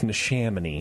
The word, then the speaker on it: Neshaminy: I think you pronounce it how it looks. It's Neshaminy.